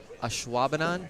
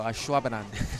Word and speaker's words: Ashwaubenon: They also just redid the bar at Ashwaubenon. Yep. Is that That's exactly how you say it. You did it great. Ashwaubenon? Yep. You kind of have to say it fast.